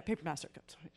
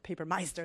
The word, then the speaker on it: Papermaster: of talk about, and did I say your name wrong? Yeah, Papermaster. I speak German. I said Papermeister is what I was trying to say.